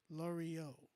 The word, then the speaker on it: Lorio: Lorio. It's pronounced like Oreo with the L.